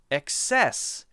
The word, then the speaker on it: excess: However, many people will say it as excess, excess, and so that difference will be access stresses the first syllable, and excess sometimes stresses the second syllable, da.